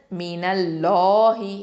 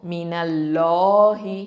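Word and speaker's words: مِنَ اللَّهِ: லாம் ஷத்தா, அதாவது மீனல்லாஹி, இந்த அல்லாஹ் அப்படிங்கிற வார்த்தைக்கு முன்னாடி ஃபத்தா வந்திருக்குது நூனில் இல்லையா, அதனால் அல்லாஹ் அப்படிங்கிற அந்த லாமை எப்படி உச்சரிக்கணும், லஃப்துல் ஜலாலா, இந்த லாமை வந்து தஃப்ஹீமாக உச்சரிக்கணும். ஓகேவா, அப்போது மினல்லாஹி, நல்ல வாயை ஓப்பன் பண்ணி சொல்லுங்கள், ரசூலும் மினல்லாஹி.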